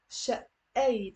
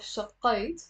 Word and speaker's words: شقيت: So notice there's a it's not شقيت, and it's not, we're not pronouncing the قاف شقيت. No, it's شقيت and there is a shadda on the you're pressing on it.